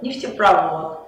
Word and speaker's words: нефтепровод: слова как а газопровод ударение уходит на последний слог поэтому нефтепровод газопровод мусоропровод но электропровод